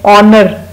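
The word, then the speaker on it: honour: Then ऑनर, किसी को guard of ऑनर देता है, जबरदस्ता इज्जत देता है, ऑनर में भी एच साइलेंट है।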